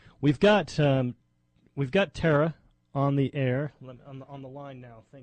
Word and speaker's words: Thara: having us on now am I pronouncing your name right Tara yes Tara great okay um wanted